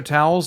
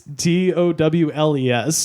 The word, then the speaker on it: Towles: Spelled like the regular towels, Towels. It's Towles.